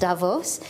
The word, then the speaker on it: Davos: my first trip to Davos I've understood it's pronounced Davos and I've heard so much about this and